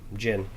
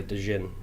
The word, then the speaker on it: Djinn: Or some people say Djinn. Jin. Some people pronounce the D. Don't know why. Those are the same people that say knife instead of knife. So. Yeah, I mean they're wrong.